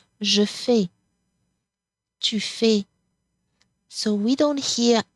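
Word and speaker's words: je fais: as you notice here the final s here is silent Jefe so we don't hear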